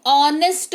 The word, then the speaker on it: honest: जैसे कि HONEST, ऑनेस्ट, एच के बाद ओ लगा हुआ है, ये कंडीशन भी मीट होना चाहिए कि एच के बाद ओ लगा हुआ है, तो ऑनेस्ट पढ़ेंगे, ठीक है, यानी कि ईमानदार।